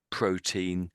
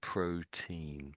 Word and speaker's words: protein: Um, maybe you could add protein. Don't trill the R. Don't The R is sort of flat. It's not a rotic R. So, protein. Protein. Protein.